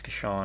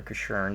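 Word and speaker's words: Casshern: And ultimately, I got to play as Kashan or Kashurn, depending upon region that you want to pronounce that, or release of video, which is a plus.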